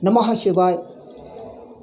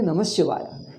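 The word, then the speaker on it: नमः शिवाय: It is clearly Namah Shivaya. He says Namaha Shivaya. He is struggling hard. Namaha Shivaya. Namaha, because the gap is coming. If you want to pronounce Ha completely, gap is coming. It's like a jerking. Why don't you say clearly Namah Shivaya, Namah Shivaya, Namah Shivaya?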